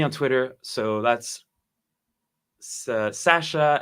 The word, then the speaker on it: Sacha: Twitter so that's uh Sasha s-a-c-h-a that's how you pronounce my name and spell it differently uh yes I'm French